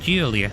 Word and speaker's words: Giulia: Yeah, you pronounce it Giulia.